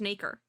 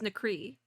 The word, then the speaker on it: nacre: It literally says mother of pearl, and it is pronounced Nacre, because I thought it was Nacre, but it's Nacre.